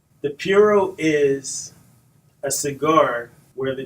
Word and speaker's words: puro: What is a puro?